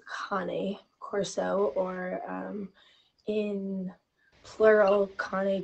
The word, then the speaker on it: Cane Corso: a lot of people know it as a Cane Corso because it's spelled c-a-n-e but because it is an Italian Mastiff and the name has a Latin derivative it's actually pronounced Connie Corso or um in plural Kane course e with